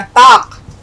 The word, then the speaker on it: ताक: ताक, अब यहाँ देखिए, यहाँ फिर काफ आया, ताक, ये लफ्ज़ आया ताक, और हमने इसको हिंदी में आपका इसका उच्चारण है ताक। ये आपको बिंदी लगानी है क के नीचे, ताक।